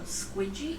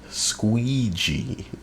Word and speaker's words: squeegee: Some people pronounce that squeegee, dear. Squeegee. But yours is funny.